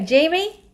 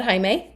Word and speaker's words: Jamie: Okay, Jamie, she told me it's Jamie, it's not Jaime.